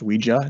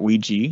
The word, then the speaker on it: Ouija: of Ouija board which avoids I keep saying Ouija because it's actually pronounced Ouija not Ouija right how we do it yeah and so